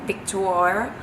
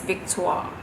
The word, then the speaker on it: Victoire: pronouncing it correctly because you cannot pronounce it like picked war or victory it's not like that it's Big Talk it's called love with